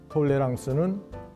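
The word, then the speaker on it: tolérance: 이미 언급했지만 톨레랑스는 프랑스식 발음입니다.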